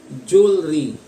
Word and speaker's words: jewelry: na na Lalong pinaiikli jewelry jewelry jewelry pakinggan ho natin jewelry jewelry jewelry jewelry so hindi ho siya Je k hindi Jew jewelry jewelry jewelry jeel Okay so